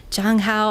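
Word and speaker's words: Zhang Hao: Okay, so this had Hanbin, Taeray, and Jang Hao. I can never say his name correctly because it has a Z, but it's pronounced like a J apparently.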